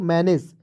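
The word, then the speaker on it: manage: तो यहां पर देखिए जीई का यदि आप ग लिखते हैं तो क्या हो जाएगा गलत हो जाएगा तो जीई का प्रयोग य पर ग ज के रूप में करना है ठीक है तो मैनेज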